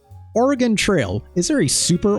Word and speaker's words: Oregon: I said Oregon, like oregano. Thank you, Marge Simpson, but that's not how that's pronounced. Oregon Trail.